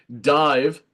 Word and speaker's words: DIIV: Yeah, Dive, pronounced and formerly known as Dive, as in DIVE, is an American rock band from Brooklyn, New York City, formed in 2011.